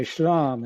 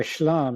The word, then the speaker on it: shlam: They say shlam instead of shalom, same thing. And why shlam instead of shalom? Well, it's because the short vowels reduce in pre-tonic syllables instead of lengthen like they do.